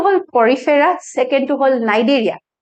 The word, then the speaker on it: Cnidaria: So first to hol porifera, second to hol cnidaria. C to pronounced hoy, C to silent hoy. So itu hol cnidaria.